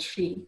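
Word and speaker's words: sí: And the ring forts, which are also called she, so the word for the native term for fairies, she, or sheath might have been the old Irish way of pronouncing it.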